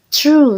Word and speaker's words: through: lanjut ke kata depan Berikutnya ini dibacanya terus seolah in the bacanya true yang artinya melalui mirip dengan kata benar ya troll tapi tulisannya yang berbeda ini dibacanya true true ini kita akan lihat